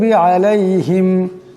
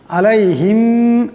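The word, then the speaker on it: عَلَيْهِمْ: এমন করে পড়তে হবে আলাইহিম আলাইহিম এখানে আইন আছে আওয়াজটা গলা থেকে আনতে হবে আলাইহিম আমরা কোন কোন মানুষ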